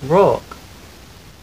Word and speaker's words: Rourke: How do you pronounce Rourke? Rourke.